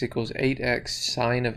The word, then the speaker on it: sin: of x equals 8x sine of x now this is a kind of a weird one in this formula s-i-n is pronounced sine and that's the trigonometric